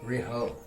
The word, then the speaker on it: Riho: Riho. What? What am I missing? Rihu, but it's spelled Riho on the MVP thing.